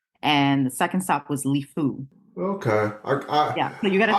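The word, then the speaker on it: Lifou: called it Liu but I was calling it lifeu too so yeah I think in the introduction I called it lifeu but I won't I won't I won't edit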